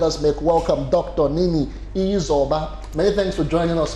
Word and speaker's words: Izoba: Nini Izoba.